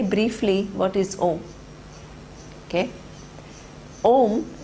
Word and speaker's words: Om: Om, it has 3 syllables: A, U and Ma. Akara stands for, it's superimposed on Akara.